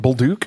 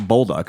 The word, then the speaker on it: Bolduc: __ ] I neither is that how you pronounce your last name baluk no you pronounce it bulu because you're in America yeah okay I've always said Bal have you really yeah well yeah you're doing it correctly it's French Canadian awesome H was just